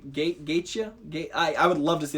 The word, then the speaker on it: Gaethje: Gaethje? I would love to see that fight. That dude is incredible. That dude coach actually wants him to fight next. It's Gaethje.